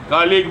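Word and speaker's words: colleague: آپ یوٹیوبر ہیں, ہمارے کالیگ ہیں, کالیگ بول رہا ہوں امریکن انگریزی, ہمارے ساتھی ہیں.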